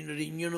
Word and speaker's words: निरंजन: बहुतिਆਂ ਨੂੰ इसका उच्चारण भी ठीक नहीं आता। कई निरंजन बोलते हैं, कुछ होर बोलते हैं, पर इसका उच्चारण है निरंजन। संधि छेद कर दो, निरंजन।